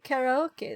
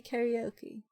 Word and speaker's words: karaoke: microphone for the Discord karaoke night stream there it's it's it's is it karaoke yeah cuz it's it's it should be karaoke Then not why do we say karaoke oh whatever it's my